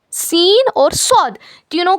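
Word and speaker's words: ص: सौद सौद सौद का क्या मखरज है? जबान की नोक को नीचे के दो दांतों के जड़ में लगाने से होता है।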